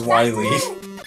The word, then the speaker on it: Wily: It is not Willy. If it was Dr. Willy, there'd be two L's. It is Wily.